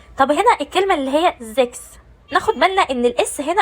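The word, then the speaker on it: sechs: تاني حاجة هنا اتنطقت كاف. ليه اتنطقت كاف؟ تنطق كاف لما يجي بعدها حرف الاس، واي حاجه غير كده بتتنطق شين.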